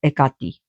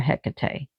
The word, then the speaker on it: Hecate: Ekati, that's how you pronounce her in Greek. Ekati. And here we pronounce her Hecate.